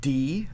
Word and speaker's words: Dy: It is not Die. It is, in fact, D. It's spelled D-Y, so my bad.